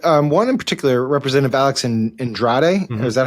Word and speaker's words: Andrade: So he's clearly burned some bridges, but one in particular, Representative Alex Andrade, is that how you pronounce it? Andrade, yeah.